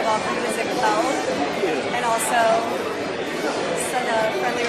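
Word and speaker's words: Ziegfeld: Just wanted to say welcome to Ziggfeld, and also send a friendly reminder of how to pronounce it, because we're hoping you'll Ziggfeld. Ziggfeld, yes. We hear Ziggfield a lot. I've heard Ziggfeld. Yeah, Really bad.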